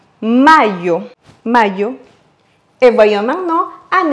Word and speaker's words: mayo: À savoir que le Y en espagnol se prononce comme le I en français. On dirait donc mayo.